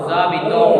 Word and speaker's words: nous habitons: O-N-S will make nasal sound O. Nusabito. Clear? So why Nusabito? Because of We are applying liaison. liaison. Because you can see liaison. Liaison. You can see, I told you liaison we do to pronounce final silent consonant.